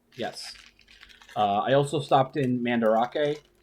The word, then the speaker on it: Mandarake: I also stopped in Mandarake, or Mandrake. It's spelt Mandarake, but Mandrake is kind of hard to spell in Japanese.